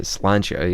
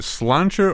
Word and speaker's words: Slàinte: health it's the cheers wait is it slancha or Sha Sha is the real way so Keith is showing his sha okay well how are you pronouncing it with an L SLA yeah it's s l a i n t with a couple accents can we just get